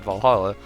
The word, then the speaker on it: VA-11 HALL-A: i know oh uh the name sounds silly and a bit hard to pronounce good thing it's actually called valhalla the uh the funny